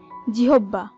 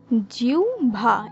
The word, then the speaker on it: জিহ্বা: আজকের আলোচনার প্রথম শব্দ জিহ্বা, যে শব্দটিকে আমরা প্রায় সময় উচ্চারণ করে থাকি জিহ্বা। এই হিসাবে আমাদের পঞ্চ ইন্দ্রিয়ের একটি ইন্দ্রিয় জিহ্বা, এর সঠিক উচ্চারণ জিহ্বা হবে না, এর সঠিক উচ্চারণ হবে জিহ্বা। এই হিসাবে এরপর রয়েছে গ্রীষ্ম।